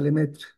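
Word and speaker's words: Lemaître: Eso lo descubrió un sacerdote que vivía en Bélgica que se llama Lemaitre, se escribe, pero se pronuncia Lemetre.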